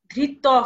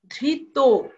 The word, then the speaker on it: ধৃত: হবে এখানে কি বলেছে তত প্রত্যয়ন্ত শব্দ যদি বিশেষণ হয় সেই অন্ত অ এর উচ্চারণ কি হবে ও কারণ হয়ে যাবে যেমন ধৃত ধৃত হবে না ধৃত বিবাহিত হবে না বিবাহিত